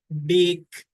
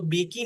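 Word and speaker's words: bake: होती है, जैसे कि बेक। अब जो ई है, हाँ, आप उसको बेकी नहीं पढ़ते, it means that E silent है, आप इसको बेक पढ़ते हैं।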